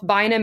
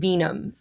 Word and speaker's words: Vinum: how to pronounce well it's it's the Latin word for wine so technically you know it's aage so you I I've heard both vinum and Venom actually so vinm Collective is